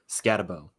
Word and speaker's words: Skattebo: Cam, is it Skattebo? How do you say his name? Skattebo.